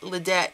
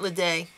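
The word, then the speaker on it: Ledet: I've been saying his name wrong. I apologize. It's Leedette, not Leay.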